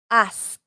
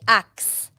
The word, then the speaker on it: ask: Ask. It's a hard one. Many people say ax. It's ask. Ask.